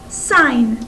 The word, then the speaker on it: sine: So when you're talking about SO, the SO part stands for, this is called sine. That's how you pronounce it.